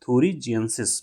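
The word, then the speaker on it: thuringiensis: BT bacillus थोरजिस जी आई ई एन एस आई S spelling कहीं देख लेंगे आप बेसिलस थोरजेंसिस बोलते हैं।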